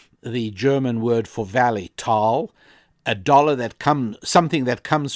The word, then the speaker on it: Tal: One of them came from a certain valley, and in German, a valley is called a Tal, usually spelled Thal or Tal, and it's pronounced Tal.